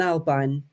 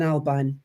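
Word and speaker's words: Albyne: The other name for the Great Glen is Glen Albine, and into Loch Ness runs the River E.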